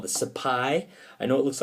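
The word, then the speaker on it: Sepoy: fought back one of them is called the sapai I know it looks like SI POI but sapai is the correct pronunciation uh the supply Rebellion or Mutiny where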